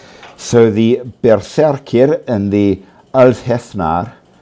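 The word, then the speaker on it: Úlfheðnar: So the Berserker and the Althethnar, it's a bit hard to pronounce because the Nordic TH is halfway between a TH in English and a D. So Ulfhednar, in a way.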